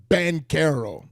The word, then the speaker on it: Banchero: How you pronounce his name? Off, Paolo Banchero? Banchero.